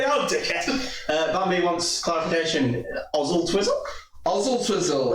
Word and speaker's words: Oswaldtwistle: Oswald Twizzle. It is Oswald. Yeah, but they pronounce it Ozzle Twizzle, it's sound.